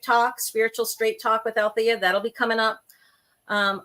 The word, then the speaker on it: Alethea: my name in Greek so she spelled it a l e t hea and pronounced it Alia versus althia so the only thing